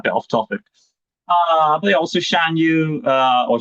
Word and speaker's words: Shan Yu: But also Shan Yu, or Shan Yu, how you want to pronounce it, very intimidating.